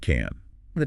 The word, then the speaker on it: can't: The positive can is short and weak. grip in but the negative can't has to be long and strong current in